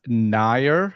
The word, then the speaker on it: Nair: It's Nair, Nair. Na, right? So it's not very common in English to say that sort of sounding for NA. So here I'm more of Nair, so it's totally fine.